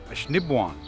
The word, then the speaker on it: Assiniboine: the river where buffalo would cross, including Fort Assiniboine here. It's actually pronounced Assiniboine.